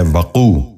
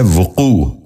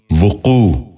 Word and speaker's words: وقوع: غور سے سنیے، وقت۔ چھٹا لفظ ہے وقوع۔ یہ غلط تلفظ ہے، درست تلفظ ہے وقوع۔ دوبارہ سنیے، وقوع۔ بچوں آپ بھی غور